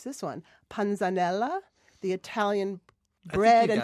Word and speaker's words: panzanella: Panzanella, the Italian bread you and got that tomato. right. Oh, Yeah. wait, say that again. Panzanella?